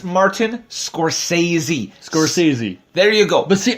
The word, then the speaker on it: Scorsese: Now I'm not going to make a fool of myself because I know for a fact I cannot pronounce the guy's last name. Okay, it's Martin Scorsese. Scorsese.